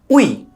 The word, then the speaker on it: ᱭ: This letter is pronounced we in Santali.